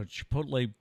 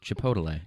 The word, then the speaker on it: Chipotle: my favorite thing is chipotle it's just it's very i remember you it's very melodic it's very like rhythmical chipotle two syllables chipotle three three three chipotle not four syllables yeah i love it